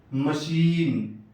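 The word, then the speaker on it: machine: یہاں مشین، مشین، یہاں سی ایچ ایک ساتھ آیا لیکن تلفظ شین سے ہو رہا ہے.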